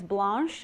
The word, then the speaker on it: Blanche: East my name is blanch and that's pronounced the French way as in blanch everyone has their version